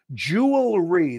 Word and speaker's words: jewelry: me on Twitter LinkedIn jewelry that's how you say it it's going from that's tricky because you go from an L la la la to an R so you got to push the r jewelry so right now